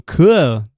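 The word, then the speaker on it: Koo: Muito bem, eu tô também no @inside, e também pra quem criou uma conta no K, sabe aquela rede chamada K? Tem que pronunciar assim.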